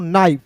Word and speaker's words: knife: जैसे दोस्तों यहाँ आप देखिए KNIFE है, तो इसे हम लोग क्या पढ़ेंगे दोस्तों, नाइफ।